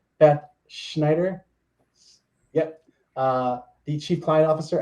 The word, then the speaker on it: Schneider: Today I'm here with the amazing and I'm going to get this last name pronounced right, Beth Schneider.